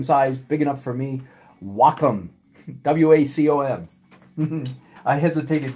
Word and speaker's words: Wacom: artists doing amazingly beautiful stuff on what a Wacom tablet like I've got right here this is medium sized big enough for me Wacom WACC om mm-hmm I hesitated buying one of